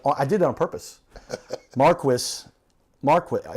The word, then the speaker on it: Marquis: Marquis Marqu M A R Q U I S. That's the American pronunciation.